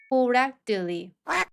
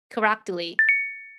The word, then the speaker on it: correctly: 우선 앞쪽 C K 발음은 힘을 빼시고요. 뒤에 붙은 T를 댄 소리로 발음하면서 뒤를 부드럽게 끌어 주시면서 발음하시면 됩니다. 연습해 보겠습니다. Exactly. Exactly. perfectly perfectly strictly strctly directly directly correctly correctly 예문 한번 읽어 볼게요.